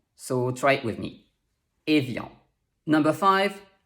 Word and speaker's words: Evian: to have it so we know that the first sound is a next we have i before another vowel sound which makes it sound like yeah and finally we have the nasal on to pronounce it properly you have to shape your mouth like the letter r and make a nasal sound so try it with